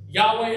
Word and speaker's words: Yahweh: At that time, the Lord God, so this is this word Yahweh, okay, which we don't know how to pronounce it, but we just say it Yahweh now.